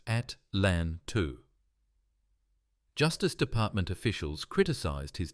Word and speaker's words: Atlanta: He was transferred to a training position in Atlanta, pronounced at LAN 2.